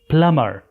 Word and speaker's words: plumber: لاحظ أنه كلمة plumber في قبل الأخير فيها حرف B، والبي هنا silent letter، كما ذكرنا في دروس سابقة أنه silent letter يكتب ولا يلفظ. plumber.